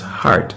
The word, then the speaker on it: HEART: No, the proper pronunciation is HEART, H-E-A-R-T, HEART Trust.